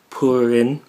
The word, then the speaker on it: Purin: So the wedding of the century has been announced between the 35th daughter of the Charlotte Ling Ling family, Purin, that's how you pronounce it, who is said to supposedly be